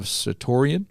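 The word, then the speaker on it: certiorari: Back in March, SCOTUS granted a writ of certoria. Did I pronounce that right?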